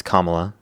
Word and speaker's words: Kamala: Uh, it's Kamla. And you can say Harris if you have an issue with pronouncing it.